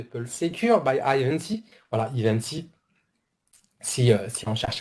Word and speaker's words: Ivanti: Sur le VADC de Pulse Secure by Ivanti, voilà, Ivanti, si on cherche à prononcer correctement, en fait, le mode de licensing, il est complètement différent.